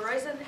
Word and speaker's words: Roizen: Noor is joined by Allison Ashley-Koch, who is professor in the Division of Medical Genetics, Department of Medicine, and by Jennifer Roizen, rhymes with poison, I will never forget that, who is assistant professor in the Department of Chemistry.